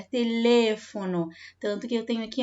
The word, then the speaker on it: teléfono: Eu tenho uma sílaba tônica diferente, ó. Teléfono, tá? Não é telefono, é teléfono.